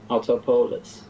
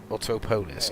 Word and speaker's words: Autopolis: Autopololis. Autopolis. Apologies pan. I finally learned how to pronounce it.